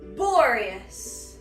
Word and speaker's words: Boreas: Boreas. Like the Aurora Borealis.